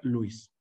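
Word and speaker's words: Lewis: leis este breviario cultural Cómo se pronuncia leguis o Luis Luis Luis a ver aquí está la versión gringa de la pronunciación y la versión mexicana de la pronunciación y hay una regla internacional para pronunciar la regla internacional es si la palabra no está en tu idioma natal que es el que estás hablando debes de pronunciarla en el idioma original y en el idioma original se pronuncia Luis si no conoces seon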